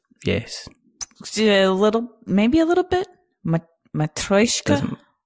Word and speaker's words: Matryoshka: Anyway, the game, did I pronounce the game completely incorrectly, first of all? Yes. Maybe a little bit. Matryoshka? Matryoshka.